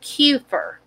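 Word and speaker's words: Kuefer: height next surname is kurfur and i'm going to spell it and it could be kuper that's the way they may have pronounced it then but it's k-u-e-f-e-r first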